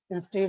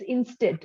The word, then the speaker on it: instant: shall focus on that instead of focusing on other negativity around you okay so the pronunciation of instant it's instant okay it's not instead instead yes correct instead okay